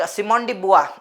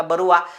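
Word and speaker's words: Simone de Beauvoir: निबंध येऊ त्याच्यात एक सिमडी बुवा बरोबर तिच प्रोनन्सशन फ्रेंच असल्यामुळे बुवा अस प्रोनन्सिएशन केल्या जात तिच अनेक जण तिला बरवा अशा वेगवेगळ्या नावाने तिला हे करतात तिच प्रॉपर प्रोनन्सिएशन आहे सिमांडी बुवा सो तिने एक स्टेटमेंट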